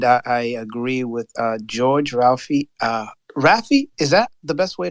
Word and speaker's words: Raphie: Raphie, is that the best way to pronounce it? Raphie, right? Yes? Yes, it's Raphie.